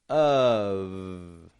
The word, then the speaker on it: of: Notice how that O-F, of, is coming out like a UV sound? Of. Again, I'm not giving it an off. Off. That would be O-F-F. Off. With a short O and 2 F's. But this is an O making kind of a U sound, often even reduced to a schwa.